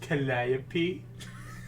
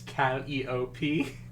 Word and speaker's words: Calliope: Actually, it's pronounced Calliope. Oh my god. Yes, pronounced Someone- Calliope. No, I'm gonna say choose my Calliope. remaining half brain cell. I got it. Actually, it's Calliope.